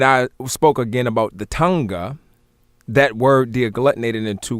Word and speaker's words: Tanakh: fold two i explained the word tonga being the proper pronunciation of the word tanakh and um i also